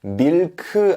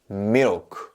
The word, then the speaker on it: milk: 되고요 baby 이렇게 합니다 밀크 안 돼요 단어는 고유한 강세의 위치가